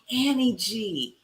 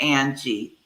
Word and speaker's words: Ann G: So they didn't continue to call me, to mispronounce Ann by calling me Annie G. So I kept it Ann G from then on, ANN.